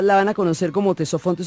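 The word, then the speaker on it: Ctesifonte: van a conocer como tesofe se escribe con con c y con t le decimos tesofe que en griego significa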